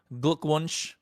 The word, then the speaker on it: Glückwunsch: So, Glückwunsch to you, right? Did I say it right? Did I say it Yeah, right? you did.